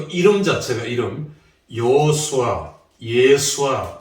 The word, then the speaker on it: 예수아: 또 이름 자체가 여호수아, 예수아, 발음은 예수아죠.